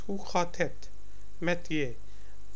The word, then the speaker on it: je: Hoe gaat het met je? J is pronounced as Y in Dutch.